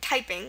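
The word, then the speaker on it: Taiping: our English word typing the stress is on the first syllable it's typing not typing um there's a slight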